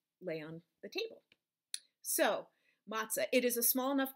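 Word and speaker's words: מצה: there is the the it's like a tz kind of sound like like tt fly i guess tz sound and this letter is sort of the equivalent of a silent e in um english it it alone doesn't have its own sound in this word um so there you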